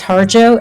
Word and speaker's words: Harjo: defender Jennifer harjo okay the pronunciation of my last name is harjo h a RJ o appointed as New Hanover